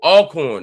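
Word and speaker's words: Alcorn: Oh, Alorn, not Elorn. Okay.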